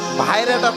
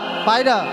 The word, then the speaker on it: পায়রা: এই যে দেখো আমার হস্তে কত সুন্দর পায়রা আছে বন্ধু, ভাইরাটা কত সুন্দর গো। এটা পায়রা, এটা কোনো ভাইরা নয়, ও, পায়রা।